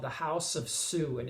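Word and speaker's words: Suh: The documentary is called The House of Sue, and it's spelled S-U-H.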